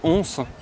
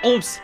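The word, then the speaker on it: Homps: Pour visiter, on visite Ons. Ons? Comment tu prononces? Moi il me semble que c'est Ons, mais il faudrait demander. C'est Omps. C'est Ons, madame? Ons. D'accord, Ons. Et oui, c'est bien Omps, situé dans le département de l'Aude.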